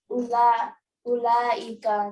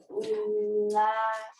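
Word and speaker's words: أولئك: Note that the vowel in ulaika is not pronounced. The word is pronounced ulaika, not ulaika.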